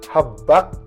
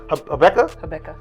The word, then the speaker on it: Habakkuk: Riley's Habakkuk. It's a Bible. It's a Bible book. Habakkuk. That one. Habakkuk.